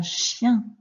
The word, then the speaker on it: chien: Un chien. Un chien. Le son yin de musicien.